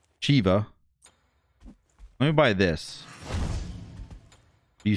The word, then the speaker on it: Shiva: know why he says shiva it's not shiva it's shiva the the god is pronounced chiva let me buy this